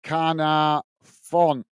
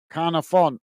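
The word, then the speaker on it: Caernarfon: Jonathan is saying car sounds like car in English. Say Carna Fon. Carna Fon.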